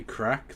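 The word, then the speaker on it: craic: For the person doing the the thing when they say crack there, it's spelled C A I R A G.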